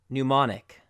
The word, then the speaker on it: mnemonic: believe comes from Greek MN is pronounced as an N sound so we have mnemonic instead of new manner